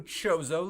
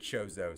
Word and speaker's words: Chozo: New Chozo lore. Hey Pat, how did you pronounce it?